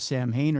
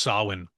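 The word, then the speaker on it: Samhain: It tells the origins story of Sam Hayne or Summer's End. Sin. What's that? It's pronounced Sin.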